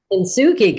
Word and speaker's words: Kintsugi: Kintsugi, good job.